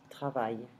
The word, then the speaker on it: travailles: And the same goes for tu travailles. Il travaille. Nous travaillons. Vous travaillez. Il, elle, notice that I'm not pronouncing the S, travaille.